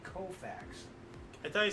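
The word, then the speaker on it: Koufax: them and 59 Sandy kfax broke Dy Dean's National League Mark of 18 strikeouts in the game woo wait a minute wait you cannot mispronounce his name I'm sorry the alltime great Sandy kofax I thought he said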